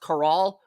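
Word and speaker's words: Karol: he's Carol sersi with Carol with a K pronounced caral okay sersi only started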